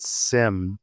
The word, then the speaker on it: CIM: We did a whole thing about why is it SIM when confidential has a hard C.